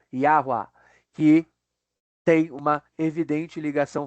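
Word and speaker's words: Yahweh: é aquele nome que a gente translitera como Jeová ou como Javé, que provavelmente se pronunciava Yahu ou Yahwe ou Yahua, que tem uma evidente ligação fonética com ei aé, e é e ya, né, parece ser muito parecido.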